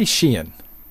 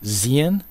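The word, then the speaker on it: Xi'an: his the the Shen they say shien you know I I would have pronounced it xen you know like xenophobe or something like that but they say I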